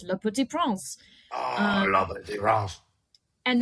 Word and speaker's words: Le Petit Prince: Do you think that me saying Le Petit Prince will get me credit on Duolingo today for doing my French exercise? No, because you're saying it wrong. It's Le Petit Prince.